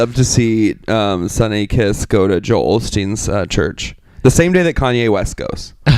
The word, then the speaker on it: Osteen: It's Joel Osteen. I always have put an L in there. I could have swore it was Olstein.